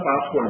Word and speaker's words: passwd: It will pronounce as this file as a password file, but it is not a password file. Because of the spelling, PASSWD is pronounced as a password file, but it is not the password file.